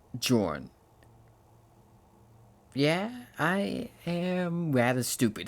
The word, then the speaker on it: Johan: I realized this entire time, throughout the entire time I've played this game, I've been saying his name as Johan, when it's just pronounced Jorn.